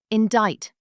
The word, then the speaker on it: indict: Indict. Six letters. Indict. The C is silent.